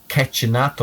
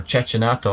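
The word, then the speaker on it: Cecchinato: him and the italian marco cacchinato or chechanatto i think is how he pronounces and and he bet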